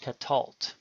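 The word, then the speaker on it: קָטַל: it is also So Silent this word is pronounced Catal note that in all three of these cases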